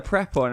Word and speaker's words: Prepon: so I called a prep one and apparently her last names officially pronounced pre pot and pre pond laura Prepon like a pre